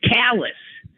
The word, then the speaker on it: Calais: don't we don't pronounce it that way we pronounce it Talus East callus and um on and on and on so